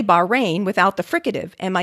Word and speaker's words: Bahrain: city of bahrain is pronounced locally i understand with a glottal fricative in the middle the same sound is at the end of the scottish word when i say bahrain without the fricative am